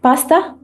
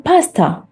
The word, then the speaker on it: pasta: word do you like pasta pasta in UK pronounced as repeat after me Pasta Pasta Pasta and in US accent how you pronounce this the same word Pasta Pasta Pasta so little longer right pasta the third word